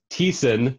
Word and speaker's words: Thiessen: Okay, it's pronounced Matthew Thiessen.